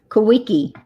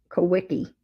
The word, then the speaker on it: Kaweco: Kawiki. It is Kaw. It's ECO. Kawiki. This is a Kawiki sport. KAWECO. And that's how it's pronounced, Kawiki.